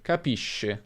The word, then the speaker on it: capisce: Se abbiamo o, si pronuncerà sk, quindi capisco, capiscono, ma se abbiamo e o i, abbiamo sh, capisci, capisce. E questo segue le normali regole di pronuncia dell'italiano. Finisco come sconto, per esempio, finisci come sci, finisce come pesce.